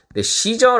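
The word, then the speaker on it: Caesar: 매력적인 남자가 바로 이 카이사르 해요 이 카이사르를 이탈리아를 케 쓰고 여러분도 이거를 0 빠름 한번 그러니까 영어식 발음을 드려야 어떻게 되죠 시저 라고 하죠 4 이것이 전부 다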